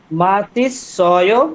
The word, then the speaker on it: 맛있어요: আমি দিচ্ছি, এটা দেখে ঠিকভাবে উচ্চারণ করার চেষ্টা করেন। হ্যাঁ, এই যে নিচের লাইনটা। 맛있어요. মাশিসয়।